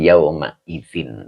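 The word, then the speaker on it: يومئذٍ: Ini dibacanya idzin ya untuk memudahkan qiraat. Nah, jadi yauma idzin begitu.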